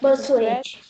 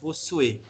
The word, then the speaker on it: Bossuet: Teoria do direito divino, Jacques Bossuet. Se escreve Bossuet, né? 2 S e T mudo no final.